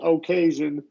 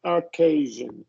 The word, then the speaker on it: occasion: occasion occasion yeah well you're still rounding your lips so you're saying occasion and you want to do just a relaxed schw sound occasion occasion there you Goa